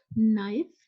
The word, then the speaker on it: knife: later it has n so the sound of K you will not take out from your lips just read with n always remember with before